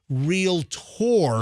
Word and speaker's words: realtor: trademark for real tour they pronounce everything r-e-a-l-t-o-r the way it's spelled but they over-enunciate real tour yes the difference between